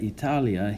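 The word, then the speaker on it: Italiā: okay also notice that Italia here has a long mark or a make Ron that is the line above the final a that means that a is pronounced for twice as long and the reason is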